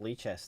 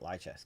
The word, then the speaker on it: Lichess: Why is it pronounced Lee chess and not lie chess? Because they never lie.